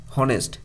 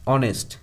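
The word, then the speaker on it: honest: ও এনই এস এই ওয়ার্ডটা উচ্চারণ করছি কিভাবে উচ্চারণ করছি হনেস্ট এরকম ভাবে নয় অনেস্ট ওকে তাহলে ভাওয়েল প্রোনাউন্সিয়েশন দিয়ে শুরু হচ্ছে তার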